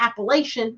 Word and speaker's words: Appalachia: the Kingpin of the Appalachian app sorry it's Appalachia Appalachia I got to say it right but this is